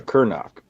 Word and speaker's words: Cernoch: Is it Cernoch or Cernoch? It's Cernoch. With a silent H? Yeah, it's Czech, so it's all Yeah, weird.